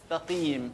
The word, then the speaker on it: المستقيم: والراء المفخمه في السراط وعند المستقيم السين مرققه ست الستات ست الستات السين بنطقه زي عباره ست الستات اهدنا الصراط المستقيم اهدنا